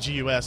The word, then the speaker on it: GUS: Now, another Thunderbolt accessory that we're going to show here is actually the MSI, they pronounce it GUS. I think it's more fun to call this the MSI GUS.